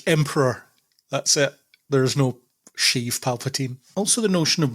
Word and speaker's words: Sheev: Sheev Palpatine. It's short for Sheevan. Is it really? No, I just like that it rhymes with Steve.